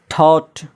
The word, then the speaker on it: thought: Light, THIGH, Thai, यहाँ पर भी GH साइलेंट हो गया, जिसका माना होता है रन। थॉट, सोचा, THOUGHT, GH से पहले क्या है, वावेल